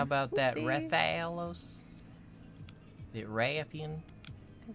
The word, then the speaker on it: Rathian: The Rathian? The Rathian? Put that emphasis hard on the Ra.